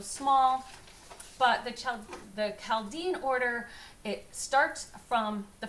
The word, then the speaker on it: Chaldean: can also go by the chaladian order uh the uh or the I always pronounce wrong I think it's Chaldean so anyway I have